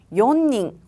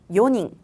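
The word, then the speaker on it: 四人: 용 그리고 시가 있었는데요 4명을 읽을 때는 연닝 혹은 지닝이 아니라 요닝 요닝이라고 있습니다 발음이 요라는 점을 기억하셔야 돼요 자 그다음 5명 볼까요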